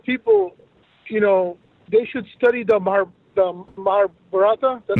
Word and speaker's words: Mahabharata: And I feel that a lot of people, they should study the Mahabharata.